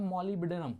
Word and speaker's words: molybdenum: और ये है मॉलिब्डेनम, है ना, मॉलिब्डेनम, मॉलिब्डेनम का जो है MOLYBDENUM, B साइलेंस है, साइलेंट है यहाँ।